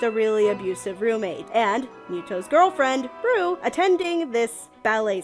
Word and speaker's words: Mytho: So anyway, because of Muto, pronounced Muto, spelt Mytho, doesn't have his heart, he is now a hollow shell of himself.